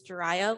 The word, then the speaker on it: Jarya: tonight um just remember how to pronounce my name my name is jarya like mariah but with a j and you know i